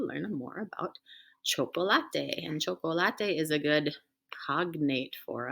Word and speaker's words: chocolate: the world and again choco latte is how we say it in spanish and that's a cognate it's